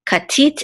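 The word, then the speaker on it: כָּתִית: And this is a kaf with a kamatz, which says ka, and this is a tav with a chirik and the yud, and then the tav at the end together will form one syllable, which says tit. Okay, katit, and this is the accent or trope mark, and so we know that the accent is on the last syllable, tit, katit, and this means beaten or pressed, crushed.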